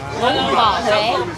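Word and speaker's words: bún bò Huế: That's how we pronounce this one. Bumba. Boom bò Huế.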